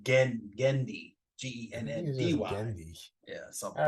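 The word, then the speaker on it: Genndy: Well, because I said it wrong for like 20 years. I said Gennady. Gennady. Like Gendy.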